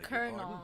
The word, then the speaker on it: colonel: on the train did you meet the bloody Colonel oh that's how you pronounce it colel okay the stonan Ambassador people called him a